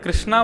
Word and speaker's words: कृष्ण: किया था बोले नहीं आप हरे कृष्णा बोलते थे ना कृष्णा तो मेरा नाम है भगवान का नाम कृष्ण है।